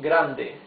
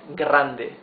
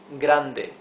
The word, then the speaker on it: grande: Here the R is different. It's grande. You see grande. The the R is smoother. It's not grande. It's grande.